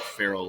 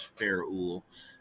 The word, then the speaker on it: ferrule: be the ferrule um it's not feral like feral hog but it's spelled like this fair ool feral what it is this